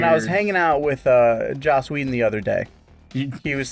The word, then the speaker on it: Joss Whedon: you were talking about Joss Whedon and you actually pronounced his name right normally you call him Josh Whedon yeah and I was